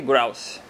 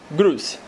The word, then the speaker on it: Grouse: se chama The Black grous mas acho que ninguém no Brasil pronuncia isso aqui como grous então melhor usar a forma como as pessoas do Brasil falam grce Amantes do Malte bem-vindos